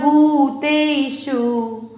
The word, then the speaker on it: भूत: अब तीसरा चरण भ, भ पर बड़े उ की मात्रा, भू क्या है बड़े उ की मात्रा, बड़े की है तो आपको इसको उच्चारण में अधिक समय देना है, भू त पूरा है त में अ मिक्स करेंगे भूत भूत भ।